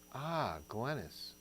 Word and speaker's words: Glennis: Rhymes with tennis. Glennis Gibbs Ramirez.